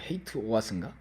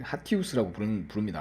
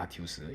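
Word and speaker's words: HATEOAS: 발음하기 어렵겠죠. 뭐 헤이트 오아스인가, 하테 오아스인가, 아니 하티우스라고 부릅니다. 하티우스.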